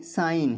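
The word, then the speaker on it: sign: Then साइन तो यहां जी साइलेंट है।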